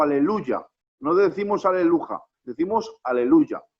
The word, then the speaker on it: aleluya: culto, digan todos aleluya, no decimos aleluja, porque el salmo que dice alaben a Ja es aleluya. Hay que pronunciarlo con una Y.